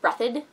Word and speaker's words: Breathed: small town in Ohio it's spelled breathed but it's pronounced breathitt it impacts the entire